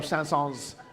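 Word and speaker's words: Saëns: He wanted to be pronounced like the city the the town Sans which is not pronounced with an S.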